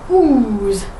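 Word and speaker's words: Ouse: times it means something or other but it's pronounced ooze so we and it runs through the heart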